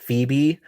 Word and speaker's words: Phobe: Um, so Phoebe became Phobe but pronounced Phoebe so it would be easier to trademark.